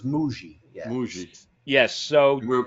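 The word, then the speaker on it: Mougey: Moogie last week, Dan, the new general manager, Moogie, but it is really Muji.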